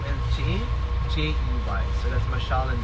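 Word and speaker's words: Jey: It's spelled M-A-S-H-A-A-L. So that's M-A-S-H-A-A-L. And your bus driver's name is J-E-Y.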